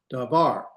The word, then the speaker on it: davar: Davar. It's not dvar, it's dvar. It's not dvar, it's dvar. Can you hear the slight difference? You're gonna put the accent at the end of the last syllable.